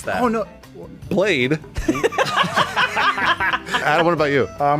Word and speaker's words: BL4DE: Yeah, but how do you pronounce that? Oh no. Blade.